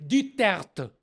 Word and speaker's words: Duterte: Alors, voilà, je viens de vous expliquer que Duterte est nom de famille français et la prononciation correcte en français, c'est Duterte.